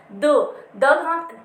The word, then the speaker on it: the: द दा भी दो तरीके से यूज होता है, एक तो इसकी प्रोनाउंसिएशन होती है दा, एक होती है दी।